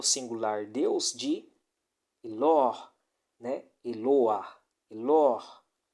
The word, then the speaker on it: Eloah: Eloah, Elor.